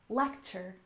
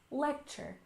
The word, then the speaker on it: lecture: and next we have lecture stress the first syllable lecture lecture good lecture is the